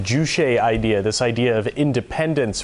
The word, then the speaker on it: Juche: Now, North Korea having this sort of, I believe it's pronounced Juche idea, this idea of independence from the outside world.